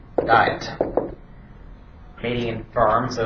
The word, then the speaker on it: Worms: Remember, it's spelled worms, but it does mean little burrowing creatures on the ground. W is pronounced as a V in German.